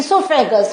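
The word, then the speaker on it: oesophagus: part is known as सोफैक सो ये जो है तो हम कहते हैं सोफे गस बट the spelling starts with O okay then हमारा जो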